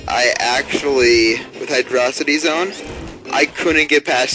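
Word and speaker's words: Hydrocity: Hydro then City but it's all one word hydrosity so like it's not like velocity velocity is one word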